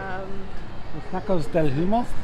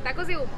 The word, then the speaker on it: Tacos de Humo: Los Tacos del Humo? No. We're terrible. How do you pronounce the name of the restaurant again? Tacos de Humo.